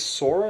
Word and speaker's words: Sora: is I think the main character's name is Sora is that right that is right they have